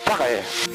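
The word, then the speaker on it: Takahē: And on the right hand side, the Murchison Mountains, and this is where the Takahe were rediscovered. And pronounced correctly, of course, it would be the Takahe.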